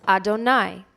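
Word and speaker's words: יהוה: is the yudhi vaav hey to which we pronounce adonai therefore when you heard me say adonai adonai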